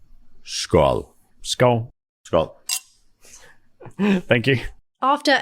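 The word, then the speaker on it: skál: how do you say cheers in FOH e skull skull skull thank you after a chat and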